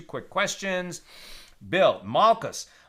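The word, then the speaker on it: מלכות: Bill, Malchus, right? Kingship, or Malkut, if you want to pronounce it more Sephardic, also includes the material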